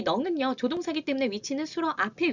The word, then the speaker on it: 能: 조건과 상황이 허락되어 할 수 있는 넝이라고 읽습니다. 같이 읽어볼게요. 넝.